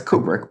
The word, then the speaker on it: Kubrick: kubrick movie is it kubrick okay what's the american pronunciation that's kubrick but but some people say kubrick and it doesn't you